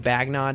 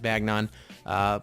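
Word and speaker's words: Bagnon: and then we have bagging on ba GN o n actually a little interesting way of pronouncing that is bagging on people call it different ways but this basically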